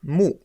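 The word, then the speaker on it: 木: En haut à gauche, mu, qui représente l'arbre, le bois. En haut à droite, une autre clé qui se prononce aussi mu, et qui veut dire œil.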